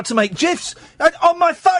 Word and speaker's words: GIF: I've learned how to make GIFs. It's pronounced GIFs, not GIFs.